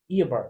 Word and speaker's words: Eobard: Like Bart Simpson, but Eobard.